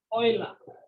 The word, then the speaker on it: Euler: as formula the name is isla this is pronounced as oil it's a french name it's pronounced as oil it's a french name so this is the